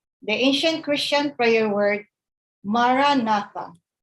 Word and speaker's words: Maranatha: We recommend the ancient Christian prayer word, Maranatha. Say it as 4 equal stressed syllables.